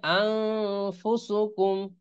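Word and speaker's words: أنفسكم: আন হবে না, আন পড়া যাবে না, এটাকে পড়তে হবে আং। আলিফ নুন জবর আং, ফা পেশ ফু, তাহলে আং ফুসুকুম, হ্যাঁ এরকম হবে।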